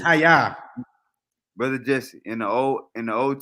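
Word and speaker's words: היה: So brother Jesse, literally, the Jews have been calling God I am, and it's pronounced Hayah.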